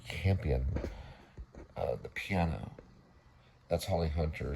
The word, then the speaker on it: Campion: So this is Jane Champion. I believe I say it wrong. It's Jane Campion, the piano.